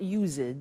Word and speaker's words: used to: Look at the spelling. It's U-S-E-D and then T-O. But the pronunciation is not used, it's used. Unusual. Used. Okay?